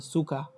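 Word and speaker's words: Zucker: এই যে এখানে একটা কি আছে, সুকা, মানে চিনি, এ আর লাস্টে আছে, সো আর এর উচ্চারণটা আর হয় না, তখন আ হয়, সুকা, সুকা, হ্যাঁ।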